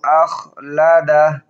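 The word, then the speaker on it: أَخْلَدَهُ: মালাহু ইয়াহসাবু আন্না মালাহু আখলাদাহ। খর উচ্চারণ কিভাবে করি খেয়াল করবেন।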